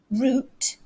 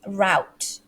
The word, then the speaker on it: route: um yeah away so the british way root but the americans they might say route they could they could also say root route or route so it's up to you which one do you want to use british or the american pronunciation there's no wrong or right okay they're both correct they're both correct okay